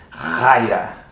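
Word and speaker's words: χαρά: você a palavra xará como escreve nem c-hr ah mas você pronuncia raia então esse ch é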